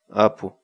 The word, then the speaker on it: Apu: series videos where we teach you how to pronounce certain words in Quechua. So our word of the day for today is Apu. Apu.